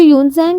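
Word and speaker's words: Xuanzang: तो ये भी साइलेंट है। एक्स नहीं पढ़ते हैं हम इसमें। तो ये स्पेलिंग का ध्यान रखना। ओके? जो यूनसैंग है वो बहुत ही फेमस चाइनिस्ट बुद्धिस्ट ट्रैवलर थे।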